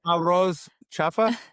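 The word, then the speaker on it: arroz chaufa: oh, now you're a roast chafa. I hope I said it right. Oh, arroz chafa?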